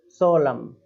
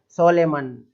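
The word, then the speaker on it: solemn: अब है सोलम, है ना, इसको इसको किस तरीके से पढ़ते हुए देखा मैंने, सोलेमन, सलेमान, अरे हाँ हाँ भाई केवल इतना ही, सोलम, है ना, सोलम।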